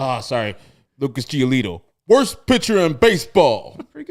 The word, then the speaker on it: Giolito: Like Herb, you didn't pronounce that correctly. Oh, sorry. Lucas Giolito.